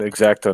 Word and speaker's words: X-Acto: Finally, we agree on X-Acto knife is the right way to say it.